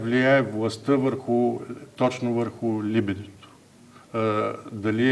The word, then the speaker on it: либидо: м това което наричаме либидо на латински мисля че ударението е на първата сричка но освен това има